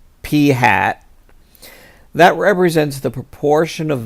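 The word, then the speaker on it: p̂: this problem we have this thing P with a little hat over it and we pronounce that P hat that represents the proportion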